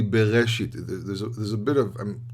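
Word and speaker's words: בראשית: Like, for example, when you say the word bereshit, you don't say breshit, you don't say bereshit, or so. It's very difficult to pronounce without it. It's really bereshit.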